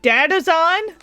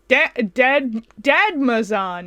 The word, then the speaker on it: Dadmazon: Ooh, is that Dadazon? It is. Dadmazon. Okay, I thought it was Dadazon.